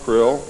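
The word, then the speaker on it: Krll: His name and title was his omnipotent highness krill, pronounced krill, spelled K R L L or C R L L.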